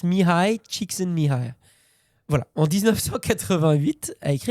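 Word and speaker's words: Mihály Csíkszentmihályi: J'ai bien prononcé le truc, ça s'écrit Mihaly Csikszentmihalyi, mais ça se prononce Mihai Csikszentmihalyi.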